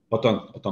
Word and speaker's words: Othón: ¿Tu nombre se pronuncia así, Otón? Otón, correcto.